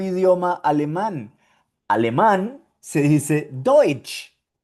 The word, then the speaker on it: Deutsch: Y cuando tú veas en alemán esta combinación T, S, C, H, vas a pronunciar ch, cha, che, chi, cho, chu.